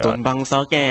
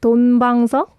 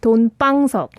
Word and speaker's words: 돈방석: He pronounced it like 돈방석, but it should be like 돈방석. A little tense. 돈방석.